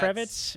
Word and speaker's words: Kravitz: next logical step obviously we're talking about zoe kravitz is how you say that kravitz yeah kravitz yeah excellent yeah that's perfect that's